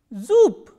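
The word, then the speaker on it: зуб: zu z ooh BRR it is pronounced as Zoop so the last consonant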